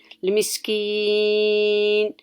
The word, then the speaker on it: المسكين: Then I make my sound longer in keen. المسكين. Why? Because it's the end of the ayah, right? And then I don't stop in المسكين with the kasra. Did you see that kasra here? You can see it clearly, but you don't pronounce it.